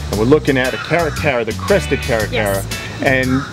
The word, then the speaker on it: Caracara: This is a Caracara.